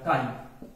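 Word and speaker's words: chi: देखिए इसको ये पढ़िएगा काई, काई, ये काई, और इसको ऐसे पढ़िएगा, ये इसका सही प्रोनाउंसिएशन है, कायरल, कायरल।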